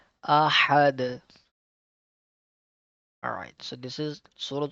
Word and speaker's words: أحد: Ahad. Just like this one. Make sure the letter ha will pronounce good and the sound of the letter dal will bounce back. Ahad.